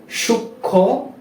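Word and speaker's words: সূক্ষ্ম: ফলা যুক্ত হয় বা যদি কোন যুক্ত ব্যঞ্জনের সাথে ম ফলা ব্যবহৃত হয় তাহলে সেই ম ফলার উচ্চারণটা হবে না যেমন যেমন সূক্ষ যক্ষা ঠিক আছে ফ্রেন্ডস আরো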